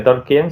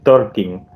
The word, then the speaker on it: Tolkien: verás se llama torquin ahí aprendí yo que talking no se dice tolkien sino se dice talking Pero bueno Y que